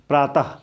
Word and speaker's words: प्रातः: हमेशा स्वर होगा, तो जैसे प्रातः जब लिखा है प्रातः, तो यहाँ पर इसका उच्चारण हा की तरह करते हैं, ये वाला आ इसमें मिल गया तो क्या बोलेंगे? हा, प्रातः।